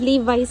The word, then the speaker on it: Levi's: So we have Levi's here. So, how do you pronounce Levi's?